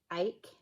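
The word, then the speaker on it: Ache: And this is where Jules Noel by Susan Ake, I think that's how you say her name, Susan Ake, A-C-H-E, from the Orifloss blog.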